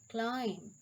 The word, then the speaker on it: climb: The letter B is usually not pronounced after M at the end of a word.